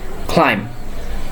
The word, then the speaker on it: climb: So the pronunciation will be like climb. Climb. B will be silent in here.